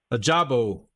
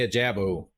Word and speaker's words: Ojabo: Ojabo. Ojabo. My Texas accent, I'm going to say a Jabo, but it's Jabo.